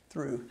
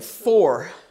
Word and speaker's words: through: Came through, yeah. Again, this word is got these 3 letters, but you say one sound. Through. Came through. No, you're saying 4. No, this is through.